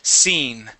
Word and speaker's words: scene: you're very close here it's more of an e sound a long e so scen try that scen uhhuh